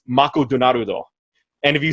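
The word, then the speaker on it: マクドナルド: Now, you may think that's stupid sounding, but like, if you take the word McDonald's and you make it into a Japanese, how they say it's Mako Donarudo.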